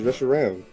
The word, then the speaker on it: Reshiram: Yeah, it was Reshiram. How is R-A-M Rom if R-O-M is Rom? It's like your computer, RAM. It's a short A.